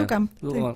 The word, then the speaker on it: Duchamp: Y a partir del capítulo 5, este físico que es Duchamp, ¿cómo se pronuncia? Duchamp.